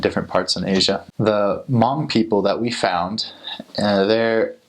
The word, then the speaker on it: Hmong: It's called Mong. It's spelled H M O N G. So, a lot of people uh when they read the name, they recognize it, but when they hear it, they don't they don't recognize it.